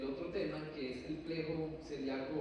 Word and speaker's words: plexo: se denomina es el plejo celíaco se escribe flexo con x pero se lee plejo como México hay algunas excepciones no